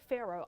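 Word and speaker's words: Faroe: the signature dishes at the revivalist called grilled Pharaoh Island salmon and I said it like that because these days I just don't pronounce things correctly but I believe I got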